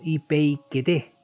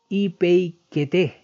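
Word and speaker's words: ὑπείκετε: de esta forma y se pronunciaría algo parecido como ipeikete, la palabra traducida como someter o sujetaos. En español es el verbo griego ipeikete, es imperativo presente de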